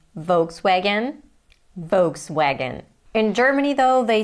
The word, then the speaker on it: Volkswagen: But I know that in German a V is pronounced as an F and a W is pronounced as an English V.